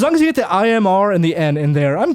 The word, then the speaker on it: Imran: do Imran it but I know it's in Iran but I got to train myself to say Imran so here's the thing